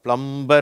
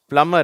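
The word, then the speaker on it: plumber: பிளம்மர் சரியா இது வந்து சில பேர் தப்பா வச்சிருக்கிறாங்க பிளம்பர் அப்படிங்கறாங்க இந்த பி வந்து இங்க சைலன்ட் அதனால பிளமர் அப்படின்னு சொல்லணும் ஓகேவா அடுத்தது இங்க பார்ப்போம்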